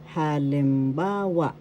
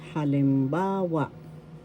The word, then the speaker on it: halimbawa: Halimbawa example you pronounce this as halimbawa first syllable ha second syllable lim third syllable ba syllable wa halimbawa the third syllable has the accent so you pronounce this as halimbawa example in English we